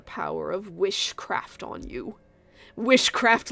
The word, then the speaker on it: wishcraft: of wishcraft on you wishcraft like witchcraft oh that's a fun little pronunciation twist huh witchcraft it's not timecraft it's wishcraft it's you you're the one